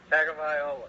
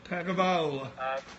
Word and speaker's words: Tagovailoa: And I was going to leave it to you to pronounce his last name because I've still not got that down yet. Tagovailoa. Tagovailoa.